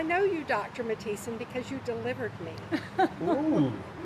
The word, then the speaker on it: Mathiesen: That's why we pronounced Dad's name right, Mathiesen, which most Mom, people did did you not do.